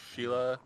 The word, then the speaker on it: Scylla: Scylla. We either pronounce it Nice Scylla woman. or Sheila, Great painter. What a but like tragedy. in Greek it would have been pronounced You know Skula.